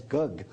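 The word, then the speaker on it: gấc: I believe the Vietnamese pronounced it as gug.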